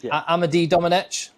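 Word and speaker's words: Amédée-Domenech: Amade Dominich. Yes. Yes.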